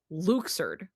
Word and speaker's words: Luxord: So, um, so his name is canonically pronounced Luxer.